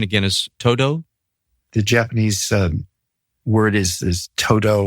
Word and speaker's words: Todo: And the Japanese pronunciation again is ToDo?